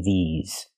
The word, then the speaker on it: these: no voice this and the second word is these we use the long e sound like green beans these and the S makes the ZZ sound like in zebra with vibration Z these so it's correct